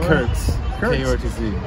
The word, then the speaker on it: Kurtz: Kurtz. K-R-U-T-Z. Rhymes with Hurts.